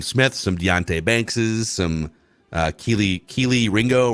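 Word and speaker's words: Kelee Ringo: We got some Cam Smith, some Deontay Bankses, some Keely Ringo, right? That's how you pronounce his name.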